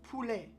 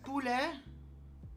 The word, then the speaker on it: poulet: So, so the reason why it's P in PFK is because chicken in French is poulet. Poulet. P-O-U-L-E-T. Just take a look at this. So, poulet, right?